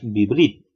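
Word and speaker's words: בברית: En ese caso nosotros leeríamos vibrit. Presten atención que en este caso el lleva pasa a ser mudo e indicaría la finalización de una nueva sílaba que se ha creado con el añadido de esta preposición.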